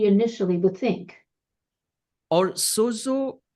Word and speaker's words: sozo: Sojat it's a Greek word and which actually pronounce सोजो सोजो जिसको हम इस प्रकार से उच्चारित कर सकते हैं।